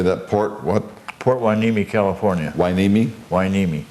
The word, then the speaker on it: Hueneme: Port Hueneme, California. Hueneme? Hueneme. Spell that for us.